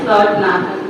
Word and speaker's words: Lourdunathan: Lourdunathan. You have correctly pronounced my name.